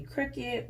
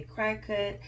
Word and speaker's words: Cricut: pronouncing it incorrectly I was calling in any cricket but it is pronounced a crack cut and so now I will be pronouncing it